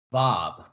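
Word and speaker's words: ו: 피 발음을 가지고 있습니다 다음 글자는 는 고리라는 의미를 갖고 있는 바라고 합니다 바브 바브 그래서 바 바흐 그래서 어 비 발음에 히이 약간 첨가되는 바 바라고 읽습니다 그래서 바브 편안하게 바브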